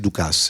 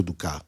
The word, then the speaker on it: Dukas: Si scrive Dukas, ma ho detto Dukas per far vedere che...